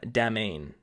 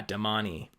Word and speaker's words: Domani: i was calling them demain and again we've got this like e at the end that I just didn't realize was something that you're supposed to pronounce kind of like Hermione but yeah domani now speaking of that